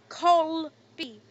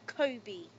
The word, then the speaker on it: Colby: But it's Colby. C-O-L-B-Y, not Kobe.